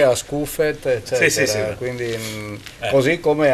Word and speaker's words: Scuffet: chiama Barrette, dal francese Scuffet a Scuffet, eccetera. Sì. Quindi così come altri cognomi friulani, forse a livello nazionale non sanno che l'accento sui cognomi veneti e friulani cade sull'ultima vocale, non sulla prima, no?